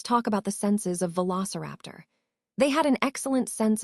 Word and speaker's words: Velociraptor: The pronunciation is Velociraptor.